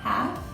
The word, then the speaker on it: half: LF ending sounds, half, half. I know you can't really hear the L, half.